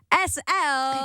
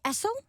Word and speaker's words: ESSEL: appreciate that you're welcome SL right yeah people say elel how really really it's